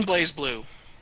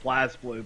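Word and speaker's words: BlazBlue: this or you can blaze blue if you understand what that means it's actually called Blast blue but yeah is it Blas blue yeah it's literally just pronounced Blast blue I'm calling it blaze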